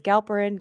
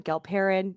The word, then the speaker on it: Galperin: yeah yeah yeah yeah goprin is that how we pronounce your last name sure you say it well i mean i pronounce it multiple ways galperin galperin it's all good it's fine